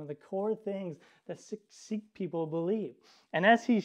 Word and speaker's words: Sikh: he tells me that he's a Sikh or is he kind of pronounced it sounded like sick and I was like